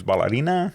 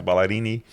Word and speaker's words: Balarini: I'm like, it's ballerina. No, it's Ballerini.